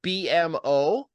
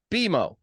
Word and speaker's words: BMO: So it's not BMO, it's BMO.